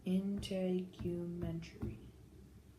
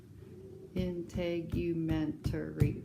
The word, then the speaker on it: integumentary: Yeah, and you kind of made the U long, didn't you? Yeah. So do that. Do it again long. Integumentary. Integumentary. Gosh, that's a lot of syllables, isn't it? 7. 7. Integumentary. Wow. You're right. That is 7.